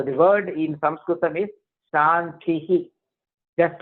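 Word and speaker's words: शान्तिः: We should not say Shanti, Shanti, Shanti. But what you could do is easy way. Om Shantihi, Shantihi, Shantihi. Right? So that we can say it comfortably with correct pronunciation.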